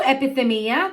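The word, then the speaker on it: ἐπιθυμία: Epithumia. That's how you pronounce it.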